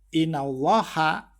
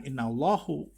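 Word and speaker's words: إِنَّ اللّٰهَ: Ya, "innallaha", bukan "innallahu", melainkan "innallaha".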